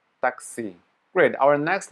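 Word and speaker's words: такси: this one taxi yeah so this backword n is pronounced as e taxi great our next letter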